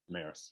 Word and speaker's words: Damaris: In your tour guide, I don't know if I'm pronouncing her name correctly, Damaris? Damaris, yeah.